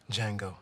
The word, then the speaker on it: Django: Django. The D is silent.